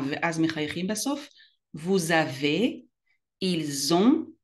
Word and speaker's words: ils ont: vous avez, ils ont, מחברים את ה-S ל-O ולא מבטאים את ה-T. ils ont, elles ont.